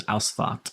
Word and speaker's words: Ausfahrt: Yeah, in German it's got an F-A-H-R-T, I think, and it's aus, like aus, out is A-U-S, I think. So it's Ausfahrt.